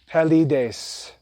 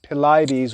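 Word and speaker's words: Pelides: example that word p-e-l-i-d-e-s we will pronounce that classically as pallidase but what you'll find is that in english tradition there are these anglicized versions or pronunciations of these names i'm not too familiar with all of them you'd have to look them up i would assume that they would pronounce this as something like pilates or paladies but it's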